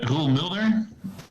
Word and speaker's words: Roel Mulder: Well, my name is Roel Mulder. That's how you pronounce the whole thing. There was this American TV show once called X-Files. Mm-hmm. It had a guy in it called Fox Mulder, which is the same name.